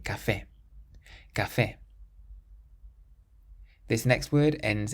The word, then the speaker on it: café: Then we have a word meaning coffee, and it ends in an E, but there's an accent on the E, so we say café.